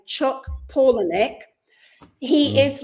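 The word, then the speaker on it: Palahniuk: he I looked him up to how to pronounce his name Chuck paulic he is like um if you imagine a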